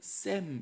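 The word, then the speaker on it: שֵׁם: 이때는 샘 이렇게 발음을 합니다.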